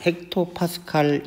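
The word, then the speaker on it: hPa: hm hm 토 그리고 pa 이거는 파스칼 헥토파스칼 이라고 읽습니다 그런 날씨에서 많이 나오는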